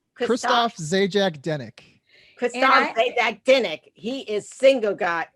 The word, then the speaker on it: Christophe Zajac-Denek: i make sure people are saying it right christoph zajac dennick christopher he is single guy girls and i